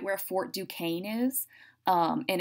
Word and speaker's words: Duquesne: forts are like i said right where fort duquesne is um and it's spelled duquesne but it's pronounced duquesne so if you're like going i don't know